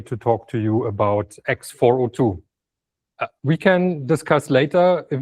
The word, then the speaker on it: x402: you should call it X42 which is my preference or you should call it X42 like Misha just did. I've been told that the the businessy people tend to say 402. But that's one syllable more. So I will not do that because I'm a developer. I identify as a developer and thus I'm lazy. So I would say x42.